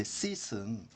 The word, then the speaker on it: seat: 이때 sit은 SIT는 동사로서 앉다라는 말이고 SEAT는 좌석 또는 자리라는 말이죠. 그래서 철자가 다른데 이것은 sit라는 형태로 짧게 이 발음이 짧고 sit 하면 좀 길게 읽어줘야 됩니다.